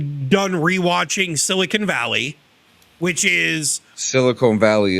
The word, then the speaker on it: silicon: this stuff that you're, it's properly pronounced silicon. People that say silicone are fucking dumbasses.